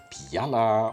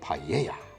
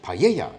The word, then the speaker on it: paella: did you know that this Spanish dish isn't pronounced Pala or paa but rather Paya now that we've gotten it out the way that's right Paya is that one dish